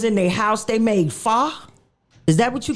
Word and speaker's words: pho: But wait a minute, the crazy part was, how about I was in their house, they made pho?